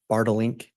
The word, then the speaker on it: Bink: morning and am I saying that correctly it's balink you pronounced it perfectly thanks so Dr Bink you've